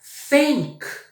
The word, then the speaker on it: think: Nesse caso aqui, eu falei duas frases. Eu falei she's thinking e she's sinking. Sink significa pia, significa o verbo afundar, significa esgoto. Sink. Think, o verbo pensar.